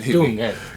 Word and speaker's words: Dungen: Dungeon. Dungen. Okay, Dungeon. Yeah. I don't know how to pronounce it. Yeah, no, you're pronouncing it right. Dungen.